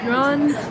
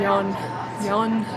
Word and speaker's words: yuan: The thing is, yuan puns in the English language media, like one